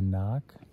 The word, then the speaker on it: NOC: uh we're trying to make it to the knock how do you say the knock then it's